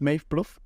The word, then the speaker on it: Maeve Plouffe: I've got to admit, I had to look up some interviews to pronounce her name the right way. But her name is Maeve Plouffe.